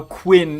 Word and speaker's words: Quinn: And you know Quinn, it it's a short w v wowel there, not not a long one like queen.